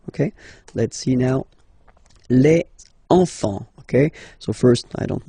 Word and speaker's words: enfants: Same pronunciation here. Enfant. Don't pronounce the T, you don't pronounce the S. Enfant, okay? And now we can focus on the liaison here. So you should make the little link.